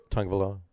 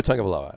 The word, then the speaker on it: Tagovailoa: Tagovailoa. Where's the N? That's my question. It's a silent N. It's a silent N. T-U-G. There's a silent N. You may just call him Tua. Tua Tagovailoa.